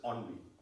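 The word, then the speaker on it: ennui: boring day you know have you heard the word onv e n n u i in in English it's pronounced as onv it is that repetition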